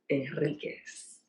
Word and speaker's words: Henriquez: So today I am here with Ralph Henriquez. The H is silent, folks, just in case.